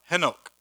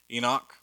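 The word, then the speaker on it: חֲנוֹךְ: So she conceived, Cain's wife conceived, and bore Henoch. That's how you pronounce it in Hebrew. Enoch, Henoch.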